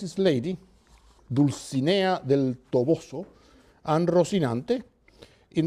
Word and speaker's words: Dulcinea: Quixote names is Lady deuce Ania del Toboso and Rocinante in the first case the lady he follows literary convention her name rhymes with Mellie bear who is the one